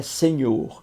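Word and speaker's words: señor: E a pronúncia é senhor, em espanhol, que significa senhor.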